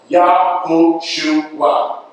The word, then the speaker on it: Yahushua: The Messiah's name is actually the same name as Joshua, son of Nun, correctly pronounced Yahushua.